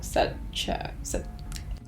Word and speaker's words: Sacheu: It's pronounced SACHEU, like Sarah and Chung, so SACHEU.